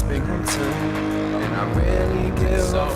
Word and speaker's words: Binghamton: It's Binghamton, and I really give a fuck about how my shit is done.